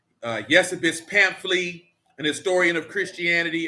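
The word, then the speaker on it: Eusebius: by the name of yesabis 314 a.d yes it's spelled e-u-s-e-b-i-u-s but it's pronounced yes abyss uh yes abyss pamphley an historian of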